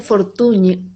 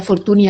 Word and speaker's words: Fortuny: Nuria Fortuny, que se Sí, pronuncia como la ñ esta final catalana, que yo decía Fortuny al principio.